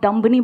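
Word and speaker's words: dumb: चलेगा next time आप दुम्बानी बोलोगे आप दम बोलोगे क्योंकि 20 साइलेंट है समझ रहे हो ये मेरे लिए नई बात है आप का रहे हो डंप नहीं होता है दम होता है ऐसे कई सारे वर्ड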